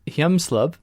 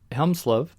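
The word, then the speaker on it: Hjelmslev: going to screw up i believe it's hyemslov helmslove which would be a nordic name i assume but danish or or danish probably or norwegian they borrowing from him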